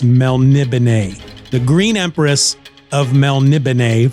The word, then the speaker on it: Melniboné: It looks like Melniboné, but it's pronounced Melniboné.